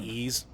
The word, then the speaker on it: Ys: basically like spelled wise like a capital y with a small s but it's pronounced ease so yeah like the